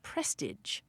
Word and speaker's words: prestige: And what's also super cool is that it appears that the earliest pronunciation of this word was prestige.